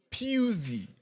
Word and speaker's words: Pusey: Tumesikia jina yake siku hizi ati inapronouncewa Pusey. Si ile njia ingine tulikuwa tunasema. Diomande is from Ivory Coast.